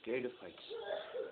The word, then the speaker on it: Pteridophytes: Okay, Pteridophytes. Pteridophytes start with the letter. I wish a lot of things. Pteridophytes start with the letter P, but it's T after that, and P is silent.